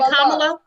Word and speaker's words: Kamala: Let's and that's why it's so much issue about Kamala Harris. If we could just say a little bit on. Say it again for the people in the back. Kamala. Is it Kamala?